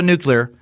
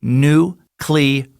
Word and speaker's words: nuclear: And just so you know, I know the correct pronunciation is nuclear. Nuclear is another way I say it sometimes, and just know that variant is accepted, as I pointed out in the past by Merriam-Webster.